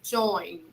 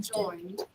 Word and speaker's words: joined: we should say he joined joint we only pronounce the final d and it's very subtle right he joined he joined he joined